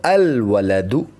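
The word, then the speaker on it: الولد: of the letters come the AL is written and pronounced let's see some more examples means a boy means a boy with the addition of alif lamb Al it will become al-waladu means the boy so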